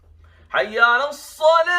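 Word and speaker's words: حي على الصلاة: Not Hayya Salah. Okay, it's not a ha, it's a ha. Ha with the bass. So ha. Hayya ala Salah.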